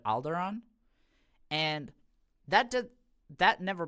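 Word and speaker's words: Alderaan: uh Chief like bodyguard he pronounces it as alderan instead of alderon and that did that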